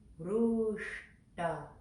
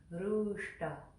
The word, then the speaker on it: Ruṣtā: So it goes like this. Ruṣtā, shta, shta, shta. And the r in ru is pronounced there too. So it's all in that little divot area. Ruṣtā, Ruṣtā, Ruṣtā.